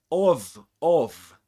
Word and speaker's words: of: Okay, so we've got, this is the weak form of the word of, but this is of with a schwa, okay?